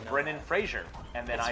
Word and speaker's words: Fraser: say- It's not a soft Z! Yeah, it's not Fraser. Should be Fraser.